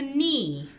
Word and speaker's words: knee: It's kind of like a knee. Knee is spelled K-N-E-E. Oh, so the K is silent.